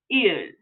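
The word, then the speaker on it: 일: So this is going to be il. Il. Il is one of our Swiss Army syllables.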